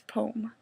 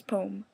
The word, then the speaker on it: poem: It's poem. Like, come on. The word is poem. My sister says poem. Like, as if it has 2 syllables. No.